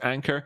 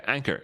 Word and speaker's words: Ankr: Hi friends, Ankr, doing pretty well, A-N-K-R. Is this actually pronounced Ankr? Yeah, Ankr, it's pronounced Ankr.